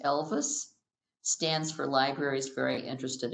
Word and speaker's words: LVIS: Rockford Public Library belongs to a consortium spelled LVIS, pronounced Elvis, stands for Libraries Very Interested in Sharing.